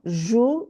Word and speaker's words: joue: O-U, it's pronounced U.